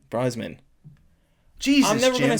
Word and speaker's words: Brosnan: Sorry, we were talking about Pierce Bronson. It's like Brosnan. Brosnan.